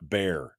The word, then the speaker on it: Bexar: moose in my garage Bexar is pronounced bear says Gordon all right sorry about